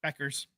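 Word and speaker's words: Bueckers: you draft Paige uh buers Beckers ignore the U when you're pronouncing it uh you you trade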